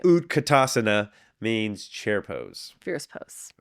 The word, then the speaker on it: utkatasana: ASA right ASA yes it means posture right utkatasana means chair pose Fierce pose Fierce pose it